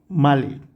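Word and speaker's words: Malé: माले pronunciation कैसे आएगा माले और करेंसी ऑब्वियसली मालदीपियन रुपैया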